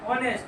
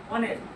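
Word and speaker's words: honest: হবে, কিন্তু hour, H ও ইউ R, hour, অনেস্ট, এইচ ও এন ই এস টি, এইচ উচ্চারণটা করছি, ও থেকে উচ্চারণটা করছি, আওয়ার অনেস্ট, সেই জন্য কি লিখবো না, অ্যান্ড।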